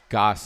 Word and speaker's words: Goss: Goss is the name, not Gass.